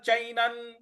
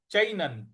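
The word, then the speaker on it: चैनं: 26वा श्लोक है अथ चैनन अथ चैनन च पर ऐ की मात्रा है न पर जो अनुस्वार है उसका उच्चारण हमें न ले आना है तो अथ चनन नित्य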